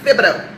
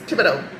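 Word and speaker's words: Thibodeaux: But, um, also Tibs is pronounced Tibido, not Tibido. It's Tibido. It's a Louisiana thing.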